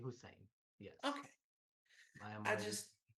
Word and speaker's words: Hussein: Hussein. Yes. Am I getting that right? I'm sorry, I'm not from here. My accent's a little weird, You I know. pronounced it correctly, Hussein.